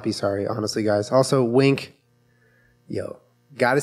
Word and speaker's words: Winc: Also, wink. Yo, gotta say, lately we've been drinking a lot of wine. Wine dinosaurs. And wink, we are wine dinosaurs.